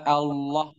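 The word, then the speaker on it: الله: Lafaz Allah dibaca tebal ketika sebelumnya berharokat fathah atau sebelumnya berharokat dhammah. Contohnya Allah, di sini harokat sebelumnya fathah. Huwallah, huwallah. Sebelumnya berharokat fathah. Ayatullah, perhatikan harokatnya dhammah. Ayatullah. Nah, dan Rasulullah. Rasulullah. Di sini dibaca tebal.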